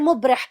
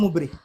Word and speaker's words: مبرح: It's not mubrih. It's not pronounced ضربا غير مبرح.